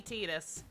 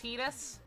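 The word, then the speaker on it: Tidus: with titus and yes it's supposed to be titus officially according to the actual lore his dave is indeed it is indeed supposed to be pronounced titus but japanese is dumb when it comes to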